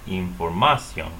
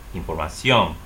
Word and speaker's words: información: So normally you would say información. However, that's incorrect stress.